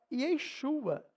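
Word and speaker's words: ישוע: então venha comigo Então a maneira que se pronuncia a palavra Jesus ao hebraico é Yeshua Então como você está falando Yeshua você tá pronunciando Jesus no hebraico também temos na Bíblia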